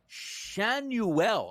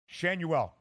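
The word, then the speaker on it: Schanuel: tonight and I think Nolan shuel I believe is the correct pronunciation on this one I bet him a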